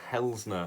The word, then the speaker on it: Hilßner: Blues have just announced Marcille hell's nah I think that's how you say his name it's got what I'm really weird bees that are actually an S in German correct me if I'm wrong but I think I'm right I didn't even never